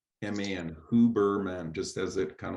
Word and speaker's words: Huberman: It's Huberman, Huberman, Huberman, just as it kind of like phonetically goes out.